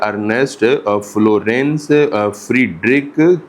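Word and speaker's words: Ernst Florens Friedrich: इसका पूरा नाम ये लिखा हुआ है अर्नेस्ट फ्लोरेंस फ्रीडरिक क्लाडनी।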